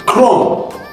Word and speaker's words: chrome: The H was the silent letter. Mm-hmm. Not C. Because yes. We say chrome. Chrome.